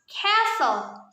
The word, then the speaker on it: castle: like the letter k the letter t is often silent in english especially when it is situated in the middle of a word therefore castle is actually pronounced castle number nine mosque this